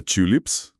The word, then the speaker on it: tulips: Ou a palavra tulips, tulipas, onde o U é completamente fechado, quase fazendo um bico.